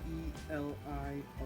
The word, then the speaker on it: Elio: Elio is spelled E-L-I-O, Elio.